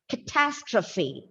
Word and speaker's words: catastrophe: it's a catastrophe so the second syllable is stressed the second syllable is stress and it is pronounced as catastrophe catastrophe and look at